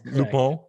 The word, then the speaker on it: Lupin: And it's pronounced Lupin?